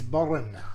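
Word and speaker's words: bodhrán: Firstly, you play mando, guitar, tenor banjo, bodhran. Now, I'm not sure if I'm pronouncing that right, Paul. It's bodhran. Bodhran. You've got to roll the R's, mate.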